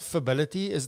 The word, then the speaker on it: Fability: So let's talk a little bit about Fability. Do I say that as it Fability? How do you pronounce the business's name? Yeah, fability, fability. Fability. So did I get it right? Fabulous. Like fabulous ability.